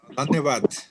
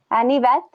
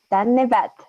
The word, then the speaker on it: धन्यवाद: धन्यवाद. Anivat? धन्यवाद. धन्यवाद. Dhanyavad.